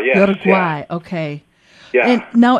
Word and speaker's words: Uruguay: vegetables and Vines wow I'm pronouncing you're I pronounced it so wrong I never studied Spanish you're saying you're a GU uh uay Uruguay yes Uruguay okay and now it's I see that the